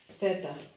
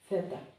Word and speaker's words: theta: And this is theta, like th in English, theta.